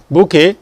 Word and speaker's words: bouquet: Bouquet. The T is silent.